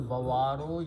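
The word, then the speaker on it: البوار: When you stop, you say Bawar.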